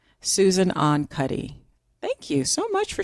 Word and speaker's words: Susan Ahn Cuddy: Susan Ahn Cuddy. Susan Ahn Cuddy.